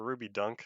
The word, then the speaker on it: Ruby Dung: ruby dung tests or ruby dunk i think it's pronounced dunk the g is supposed to be a k um yeah all the